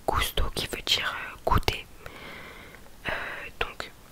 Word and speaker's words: gusto: le U, après le G, ça se prononce que, du coup, comme le mot gusto, gusto qui veut dire goûter.